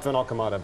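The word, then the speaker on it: VanAlkemade: I'll start with you because I probably destroyed your last name pronouncing it. It's Rob Finelada, but Rob is good.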